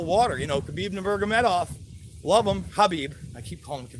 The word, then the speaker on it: Khabib: Khabib Nurmagomedov, love him, Habib. I keep calling him Khabib. I know the K is silent.